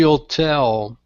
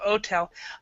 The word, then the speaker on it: hotel: and this word uh this word we actually pronounced the H so instead of otel hotel hotel yeah all